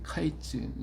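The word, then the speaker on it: קַיִץ: 말이 카이라고 하는 말이에 카이츠 히브리어로 카이라는 말인데이 끝이라는 말은 캐라고 그래요 케츠 그 그랬으니까 어 카이나 케나 이말 발음이 비슷 우리 말도 같은 단어를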